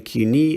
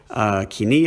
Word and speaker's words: Koine: The other approach, of course, is the living Koine approach, or the living Kuni approach, or the living Kini approach, or the Kune approach, depending on which variation of the restored pronunciation or modern pronunciation you want to go with.